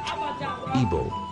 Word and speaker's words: Igbo: In their language, they pronounced it Igbo.